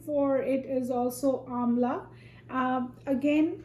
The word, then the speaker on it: amla: get out of these amlas amla is the indian name so it's spelled like a mla or as i said